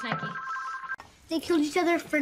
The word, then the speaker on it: Nike: a atenção é que em muitas palavras em que se precisa silenciar o E no final, se pronuncia o dito cujo, como, por exemplo, love, like, etc. E neste aqui sempre se lembram de não pronunciá-lo, mas na verdade ele precisa ser dito no final.